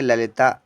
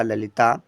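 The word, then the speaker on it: Lalita: next देखते हैं पर एल ए एल आई टी ए पढ़ेंगे ललिता एल से ल हुआ बच्चा ए साइलेंट रहेगा फिर एल से ला और आई से छोटी की मात्रा टी से ता हुआ और ए का मतलब बड़े आ की मात्रा हो गया ललिता नेक्स्ट है बच्चा यहां पर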